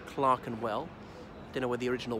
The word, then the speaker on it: Clerkenwell: it's belt Clerkenwell but it's pronounced Clark and well you know where the